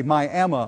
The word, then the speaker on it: Miami: to the Fantastic Coleman theater in downtown beautiful Miami Oklahoma or I should say my Oklahoma as it's pronounced here you would think you were in